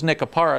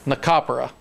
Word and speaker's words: Nicopera: We were told it was Nicopara, and that's what I've called him for a year. Still good. So the W is Nicopera. Nicopera.